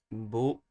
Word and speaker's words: bonheur: Bonheur. Toute ma vie. Mais we're going to simplify it. Mais. So mais. J'ai déjà bonheur. So the ner is the last syllable is stressed.